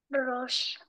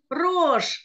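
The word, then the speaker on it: ראש: не имеет звука правда А последняя буква шин звук ш как мы прочитаем это слово Рош рож молодец потому что буква алиф здесь Да есть но возле неё нет ни одной огласовки и поэтому мы читаем рож а Медина знакомо ли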